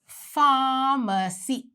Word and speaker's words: pharmacy: The letter P and the letter H gets together and makes the sound F. And so we say pharmacy.